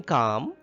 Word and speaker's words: calm: In calm, can you tell me which letter is silent? That is L. L is silent in calm.